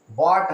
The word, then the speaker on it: bought: लेकिन बाई का third form क्या होता है, बॉट होता है, BOUGHT, बाई बॉट, बॉट। इसमें देखेंगे UGH साइलेंट है, जहां भी रहता है साइलेंट रहता है UGH।